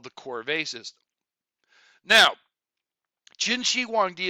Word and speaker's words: corvée: That is pronounced corvée, not corvée.